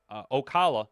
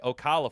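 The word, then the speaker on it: Ocala: Kid Rock came down here to OA Okala. Yeah, I said it right. Okala, Florida back a few years back.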